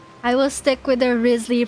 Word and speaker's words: Risley: It's Risley. It's a British surname. Oh, I see. Okay. I will stick with the Risley pronunciation for now.